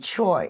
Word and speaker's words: Choy: And Chai and Choi is the same Chinese character. However, the Koreans pronounce that in America as choi.